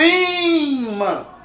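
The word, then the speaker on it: ímã: A mesma coisa serve para imã. Eu digo, olha o imã. Sílaba tônica é aqui, é uma paroxítona terminada em an.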